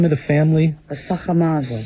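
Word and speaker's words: Sacher-Masoch: Pronounce the name of the family. Sacher Masoch. Sacher Masoch.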